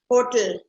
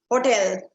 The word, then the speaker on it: hotel: Hotel. Is it? Hotel. No, it's hotel. Hotel. That's exactly how you pronounce it.